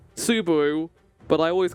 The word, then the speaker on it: Subaru: I know his name is pronounced Subaru, but I always call him Subaru because I'm an idiot.